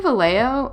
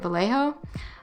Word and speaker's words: Vallejo: it i don't have any vallejo um is how you say it vallejo um but i hear